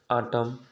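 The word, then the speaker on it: autumn: और यन साइलेंट होता है, यन ही खाली साइलेंट होता है, ठीक है ना। जैसे आटम, डैम, हाइम, कॉलम, ठीक ना, ये प्रकार का क्या है आपका साइलेंट है।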